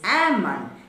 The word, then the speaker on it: almond: o n d is not almond it is ammon in a particular law then one more word